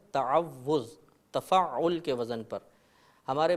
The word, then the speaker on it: تعوذ: مبتلا ہو جاتی ہے۔ صحیح لفظ ہے تعوذ، تفعل کے وزن پر۔